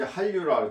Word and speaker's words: 한류: 한 자 찬 바닷물은 한류로 한류 한류 한윤데 우리말은 한류라고 발음하죠 이게 우리나라가 자음적변 현상이 있어 가지고 선생님도 초등학교 아이들 가르칠 때 참기 어려워요 이게 한류라고 써놓고 읽을 때는 한류라고 우리가 이제 또 한식이